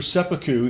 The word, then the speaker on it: seppuku: out the word sepu and it would be pronounced sepu but if you're just talking to somebody you